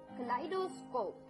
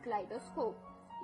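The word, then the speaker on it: kaleidoscope: ये था first word second न वर्ड इज क्लाइडो स्कोप जी हां दोस्तों कलाइट स्कोप इसकी स्पेलिंग है के ए एल ई आई डी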